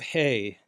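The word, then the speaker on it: ה: And then we have hey. Hey, when it functions as a consonant makes a soft h sound.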